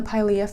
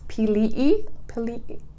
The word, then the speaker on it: Pilea: I think it's sorry, I'm saying Pilea wrong. It's Pilei family. I was corrected by one of my sweet subscribers. She goes, it's actually pronounced this way, and she's taken all kinds of courses of classes and languages, and she corrected me and just said it sounds like this, and it looks like Pilei family.